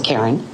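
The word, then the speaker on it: Carren: My first name is spelled C A R R E N. It's Karen.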